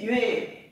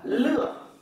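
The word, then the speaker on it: 乐: Cái này bạn đọc là nhuệ. Âm viết nó là chữ nhạc. Chữ này nó có một cách đọc khác nữa là lựa. Khi nó đọc là lựa thì nó có nghĩa là gì? Lạc. Lạc thú ở đời đấy. Còn âm nhạc thì nó đọc là nhuệ và âm viết nó là nhạc.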